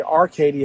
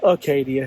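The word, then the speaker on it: Acadia: I think on my last video I pronounced it, talking about it yesterday, Arcadia. It's Arcadia. There's no R in it, sorry.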